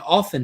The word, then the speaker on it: often: That's why the T in often is silent, because words have meaning.